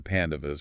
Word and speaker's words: Pandavas: Yes, a group of 5 royal brothers known as the Pandavas, pronounced P-A-N-D-U-V-U-S.